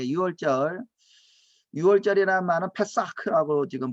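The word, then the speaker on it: פסח: 6월절이라는 말은 페사크라고 지금 발음하는데 피가 있는 피를 집을 넘어가는 거죠.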